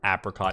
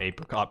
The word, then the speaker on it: apricot: debate of the of the whole apricot apricot pronunciation thing i just don't know where i started or necessarily where i land i think both are valid pronunciations to be real with you